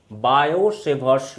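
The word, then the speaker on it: Biot-Savart: अब जब टी को प्रोनाउंस ही नहीं करना था तो नाम में लगाना जरूरी नहीं था। बायो-सेवर्ट्स लॉ, ये एक यूनिक लॉ है।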